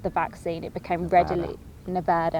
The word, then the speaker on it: Nevada: vaccine it became readily nevada as they say yeah that's true that's the right way to say it became readily available quite